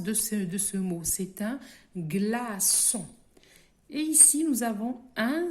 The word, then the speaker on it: glaçon: Nous avons une leçon, une façade, un glaçon, un citron.